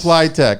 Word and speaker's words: Pliteq: Ralph is here for ply triple W ply it's spelled p l i TQ plyable technology is where that comes from that's where it comes